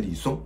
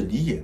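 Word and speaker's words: 李昖: 偷懒了，我发音成李松，这里纠正一下错误，应该是李琰，日字旁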